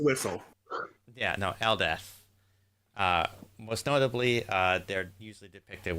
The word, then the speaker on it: Eldath: Eldath. It's pronounced Whistle. Yeah, no, Eldeth.